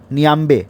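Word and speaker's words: Niamey: Capital है नियामे। नियांबे। नियांबे है। यह गलत स्पेलिंग दिया हुआ है।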